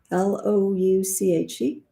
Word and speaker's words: louche: Is that how I pronounce it? Louche? Louche.